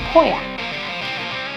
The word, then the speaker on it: Pauillac: So poi, like soy, ac, Pauillac.